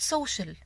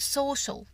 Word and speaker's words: social: كلمة social مش بقول social، بقول social.